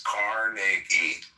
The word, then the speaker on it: Carnegie: Well, pronounce his fucking name right. It's Carnegie.